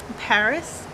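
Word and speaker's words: PVRIS: it too well but the next band is called paris but it's spelled pv ris um now i don't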